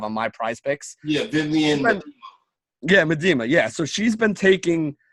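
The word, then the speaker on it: Vivianne Miedema: Yeah, Vivian. Medema.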